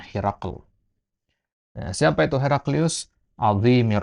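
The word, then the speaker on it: هرقل: Ya, Herakl itu ya kalau bahasa ejaan kita ya Heraklius, ya, Heraklius. Kalau bahasa Arabnya Herakl.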